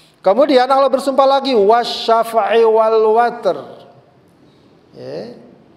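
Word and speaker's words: وَالْوَتْرِ: Kemudian Allah bersumpah lagi wasyafa'i wal watr, ya. Kadang juga ada yang dibaca wal witr, yang biasa mungkin akrab kita witir, ya, tapi di sini bacanya al watr.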